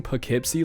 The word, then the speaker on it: Poughkeepsie: I was pronouncing Poughkeepsie like Poughkeepsie, and dude, I get comments to this day telling me that I pronounced that shit wrong.